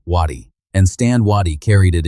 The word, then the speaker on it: Waddy: Strip away the spelling and you find something older, but by the 19th century the family carried it as a plain, hard, two-syllable surname, Waddy, and Stan Waddy carried it into history.